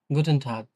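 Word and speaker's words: Guten Tag: হচ্ছে যে শুভদিন আমরা যেটা বলি আর কি গুটন টাক বা অনেকে অন্য ধর্ম অবলম্বীনরা অনেক সময় বলে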